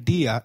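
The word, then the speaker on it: día: please bueno very well did you notice that dia has an i marked with an accent in spanish if a word is marked with an accent then that syllable receives the stress so try saying dia again dia good morning is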